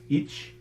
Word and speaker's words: ic: back in Old English that was I C with a fronted C pronounced each and now it's written